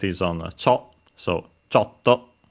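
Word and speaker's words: ちょっと: Then we have a chto which I've mentioned before which means uh a little a bit slightly the accent is on. So chto.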